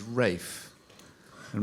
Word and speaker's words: Ralph: the pronunciation the Ralph in an old fashioned form of pronunciation is R and my father had a stepgfather called R spell Ralph so he wanted me to be ra and all my life